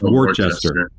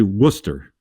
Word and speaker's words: Worcester: spelled it looks like it's supposed to be pronounced Worchester but it's actually Worcester good Boston accent for the woxs uh and